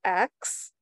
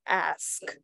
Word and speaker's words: ask: fun of because of the way I pronounce the word ask. I pronounce it axe. And I got teased because people were saying that it's supposed to be pronounced ask.